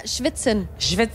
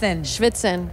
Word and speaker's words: schwitzen: the last thing yeah is that how you say it yeah schwitzen schwitzen yeah so how was it